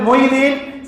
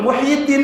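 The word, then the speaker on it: محي الدين: வாங்கி நஞ்சு போய் கிடக்கு சில பேர் மொய்த்தீன்னு சொல்லுவாங்க சில பேர் முஹைதீன்னு சொல்லுவாங்க இந்திய தமிழ்நாட்டுல ஒரு ஃபேமஸான பயல மொய்த்தி மொய்த்தீன் பயல எல்லாம் முஹைதீன்ல இருந்து வந்ததுதான் முஹிதீனை சரியா வச்சு உச்சரிக்க தெரியாம சிலர் மொயிதீன் சிலர் மைதீன் சிலர் முஹைதீன் எல்லாமே தப்பு முஹியுதீன் தான் கரெக்ட் பேர்ல அரபி இருக்கு அந்த பேரையாவது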